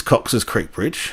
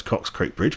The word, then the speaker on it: Cox Creek Bridge: this is Scott uh this is Cox's Creek Bridge I think I mispronounced that too in the video it's Cox Creek Bridge but anyway we all